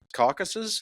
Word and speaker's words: Caucasus: It's Tanner Tripp, who's the founder of Wild Giants Conservation Fund and Wild Giants Caucasus.